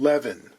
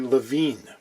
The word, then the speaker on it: Levine: This guitar is a Goya produced by a company I've been pronouncing Levin forever. Levin, it seems, is actually Levine.